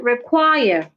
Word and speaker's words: require: stress the first syllable now if a word has two syllables and it's a verb or a preposition please stress the second syllable if a word has two syllables and the word is a verb or a preposition please stress the second syllable for example the word require require has two syllables and